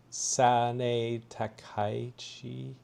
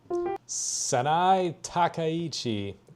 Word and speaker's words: Sanae Takaichi: Okay, you know why that this Japanese Prime Minister, Sane Takaichi, let's figure out, fellas, real quick, fellas and